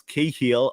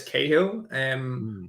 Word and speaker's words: Cahill: But everyone in like the US, UK, Australia just says Cahill. For whatever reason, I've never seen the combination of C and A with a H ever pronounced K in my life.